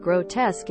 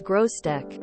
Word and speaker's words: grotesque: teacher pointed out that grotesque is not in fact pronounced as grossdeck somehow my brain had never